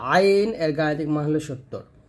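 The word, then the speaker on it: عين: হলো 50 সিন সিনটা জিহ্বাটা নিচে তাতে লাগে উচ্চারণ করবেন আর সিন এর গাণিতিক মান হচ্ছে 60 তারপর হচ্ছে আইন আইনটা চাপ দিয়ে বলতে হবে আইন এরকম ভাবে তো আইন এর গাণিতিক মান হলো 70 আইন তারপর হচ্ছে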